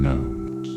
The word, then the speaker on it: gnomes: You try to ask what that means, but he's already disappeared back into the hollow log, muttering about the silent G in gnomes.